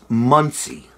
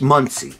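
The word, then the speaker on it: Monsey: say this word it's muncie that's how you say hmong say m-o-n-s-e-y it's muncie that's how the locals say it and i only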